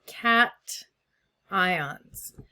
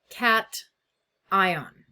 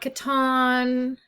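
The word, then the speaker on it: cation: And it's pronounced cat ion. It's not caton. It's not onion. I mean, you guys never really actually turn on your mic, so I'd never actually hear you say it. But it's pronounced cat ion. Two separate things.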